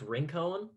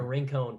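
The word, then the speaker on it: Rincón: they live in um i think it's pronounced rincon it's wrinkle rincon puerto rico and then i don't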